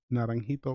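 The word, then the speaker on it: Naranjito: so it's na RA n ji t o nerving hito Porto Rico and that's where our grid is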